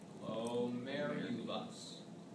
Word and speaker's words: glomerulus: Glomerulus. So the ball of capillaries is... This is the glomerulus. What is this? Glomerulus. Very good. And it's spelled exactly like it sounds. Glo, G-L-O, mer, M-E-R, U-L-U-S. Glomerulus.